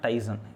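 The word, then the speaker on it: Tizen: சாம்சங்னு எடுத்துக்கிட்டோம் அப்படின்னா இதில் வந்து சாம்சங் வந்து தன்னோட எக்கோ சிஸ்டத்துக்காக டிசன் இல்லை அப்படின்னா டைசன், இதை வந்து நான் வந்து யூஸ்வலாக இதை டைசன் அப்படின்பேன். ஆனால் இதை ஆக்சுவலாக ப்ரொனவுன்ஸ் பண்ணுறம்போது வந்து இதை டிசன் அப்படின்னு சொல்லிட்டு ப்ரொனவுன்ஸ் பண்ணுவாங்க, ஓகே.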